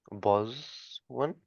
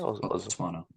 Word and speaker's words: Botswana: Yes, Perin Davey, you previous to your parliamentary comments, you run your own hospitality company in Boswan? I think that's how you say it. Botswana.